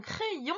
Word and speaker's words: crayon: Crayon, j'ai d'abord une première syllabe qui fait cray et une deuxième syllabe qui fait ion. Et le Y, il arrive à être entre les deux syllabes.